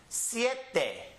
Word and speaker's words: siete: Siete. Siete. And this word has two syllables. We're going to divide it right here. The first syllable is sie, and the second syllable is te.